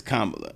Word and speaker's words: Kamala: how's it is it her name is comma pronounce her name kamla Harris it's kamla yeah but people be purposely like the controversy